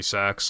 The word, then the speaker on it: CEX: Apparently, like, the official pronunciation of CEX is literally sex, like, unironically, but, like, nobody calls it that.